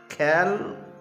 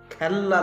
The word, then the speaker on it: খেলা: এইরকম করে একসঙ্গে ধরো লিখলাম খেল আ কি করে উচ্চারণ করবে এমনি করে বলবে খেল আ না